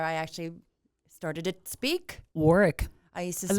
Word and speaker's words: Warwick: But they don't pronounce it like that. University of Warwick. Warwick.